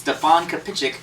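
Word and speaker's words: Stefan Kapičić: told me his name was supposed to be pronounced Stefan kichic who is the voice of Deadpool so um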